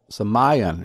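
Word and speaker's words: σημεῖον: The word wonders comes from the Greek semion, and it's in Strong's Concordance in the Greek Dictionary, number 4592, semion is the way it's pronounced, neuter of a presumed derivative of the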